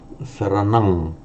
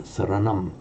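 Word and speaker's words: saraṇaṃ: it probably was pronounced, and in Sanskrit we know that it is pronounced as a buddham and a saranam. Now, what happens to that sound when another word follows? So at the end of a word group on its own, for Pali, pronounce it as an ang.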